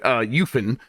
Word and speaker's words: UEFN: UEFN, which is Unreal Engine for Fortnite, that's how they say it, UFN, will allow for cross-play